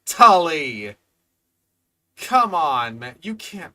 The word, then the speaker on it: Tully: Colloquially known as the Tuli monster. This extinct animal, you can't even say Tully.